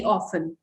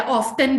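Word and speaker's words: often: Play computer games very ऑफन, ठीक है, या ऑफ्टन भी बोलते हैं इसे। दोनों ब्रिटिश और अमेरिकन प्रोनाउंसिएशन है, आपको जो पसंद है आप बोल सकते हैं।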